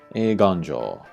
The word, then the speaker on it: Eiganjo: Eiganjo, eiganjo. Here too, it's in the extended vowel, so a little bit of stress on there, so eiganjo, eiganjo. Okiba.